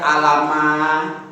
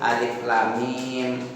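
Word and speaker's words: الم: nama aslinya mimun mim makanya kita harus bacanya bukan Alama bukan hama tapi H mim Alif Lam Mim nama aslinya Nama hijaiahnya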